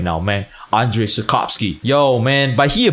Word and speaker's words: Andrzej Sapkowski: I even know how to pronounce the name of the author. Andrzej Sapkowski. Yo, I could be speaking Polish right now, man. Andrzej Sapkowski.